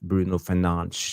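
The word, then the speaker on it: Bruno Fernandes: we have so um Yes you heard right I I I pronounced Bruno fenan his name right that's the Portuguese way uh Trevor Wade is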